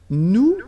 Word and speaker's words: nous: Okay, and then for nous, it will be, so if you remember correctly, so final S is not pronounced here. Okay, and then this O-N, so it's a nasal and it goes in your nose and it goes like on. Alright, so you don't hear any N, so it's really on.